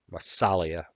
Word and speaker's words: Massalia: Massalia.